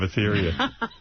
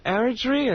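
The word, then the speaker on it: Eritrea: See, this is one of the children of Athetheria. Aritria. Did I say it right? Aritria. Aritria is what they tell me, right?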